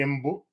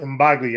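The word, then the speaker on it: Mbalia: boy joy it's by kwame embo kwame uh embagli i almost said his name wrong uh it's 17 short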